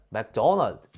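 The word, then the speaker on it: McDonald's: 이것도 이상한 건 똑같아요 원 발음은 맥도널드 이렇게 2음절로 발음되어 그런데 우리나라는 맥도날드 음절로 발음 되잖아요 못 알아들어요 우리가 자연스럽게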